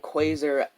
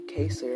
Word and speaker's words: Kaser: And she would just say that, and for the first couple of days, I was like, oh, that's not how you say my name. It's actually Kaser.